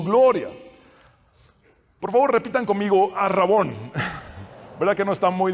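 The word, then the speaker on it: ἀρραβών: alabanza de su gloria por favor repitan conmigo ar rabón verdad que no está muy difícil aprender griego ar rabón es fácil de pronunciar y Hay a veces similitudes en pronunciación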